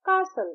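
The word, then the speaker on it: castle: आर आई एस टी कासल कासल की spelling है टी ए एस टी एल ई जब हम इसे प्रोनाउंस करते हैं तो यहां पी साइलेंट हो जाता है। हम कहते हैं कासल सी ए एस एल E depth depth इसमें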